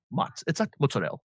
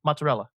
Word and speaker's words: mozzarella: For people in the tri-state area, Italians pronounce their vowels. It's not prosciutto. It's prosciutto. That's what it is. It's not mozzarella. It's mozzarella.